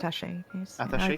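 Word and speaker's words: attaché: He'd do strange things like showing off an atache. Is that how you pronounce that? Ataché Case with seven strange stakes in it and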